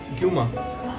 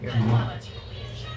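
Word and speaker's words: Gyuma: Kailash Hotel, and with me is my new friend Sonam, and we have ordered guma.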